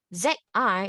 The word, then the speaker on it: zi: Now, ZI is pronounced as zi, zi, zi. You can notice your tongue is a bit more relaxed. Even your facial muscle, you will feel it to be more relaxed, okay?